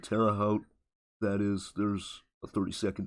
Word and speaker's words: Terre Haute: I had a hard time pronouncing like the Terre Haute or whatever. Terre Haute.